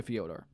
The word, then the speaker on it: Fyodor: Oh, it's probably like Theodore.